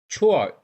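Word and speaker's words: 错: इसी तरह नेक्स्ट हमारे पास एक वर्ड है छोआ। छोआ कहते हैं हम बैड को, छोआ सी को छे के साथ प्रोनाउंस करते, छोआ छोआ मीन बैड।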